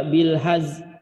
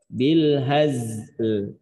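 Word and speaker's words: بالهزل: kita berhenti di situ jangan cuma baca bil haz. Nah, lamnya kemana? Gitu. Lamnya nggak boleh hilang. Maka cara bacanya dengan mengisyarahkan bunyi lam, bisa dengan bil hazl gitu misalkan contoh ya. Tetap cara bacanya bil hazl bunyi gitu ya.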